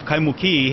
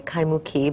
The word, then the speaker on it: Kaimuki: I say Kaimuki, but Paula says it a little different. A little Kaimuki, the Imu, the tea leaf imu is what traditionally the Hawaiians have for that area.